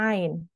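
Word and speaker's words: ع: kita kita tutup jika huruf Ain itu tidak keluar maka kita salah kurang tepat ee dalam melafalkan huruf Ain makhrajnya masih dari hidung tapi kalau kita tutup hidung ainnya masih kedengaran masih keluar Ain a i u walaupun hidung kita tutup berarti kita sudah tepat cara melafalkan huruf Ain huruf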